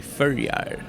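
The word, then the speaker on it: Føroyar: We're not Danish, it's under Denmark, but you say it in Faroese, say Førjar.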